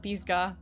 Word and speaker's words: Pisgah: forest in north carolina i'm laughing while pronouncing it because if it's pronounced pisgah and that's that's kind